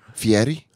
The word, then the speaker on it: Fieri: __ ] Guy Fieri Fieri I like to say it like it's Italian I like my goatee who